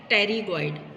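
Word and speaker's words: pterygoid: ये है टेरिगॉइड, इसको लिखते हैं पी से, लेकिन पी साइलेंट है, टेरिगॉइड लिखते हैं लेकिन पढ़ेंगे टेरिगॉइड, ठीक है।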